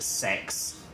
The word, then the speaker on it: CeX: wondering what CeX is so in the UK C originally pronounced sex yeah it was the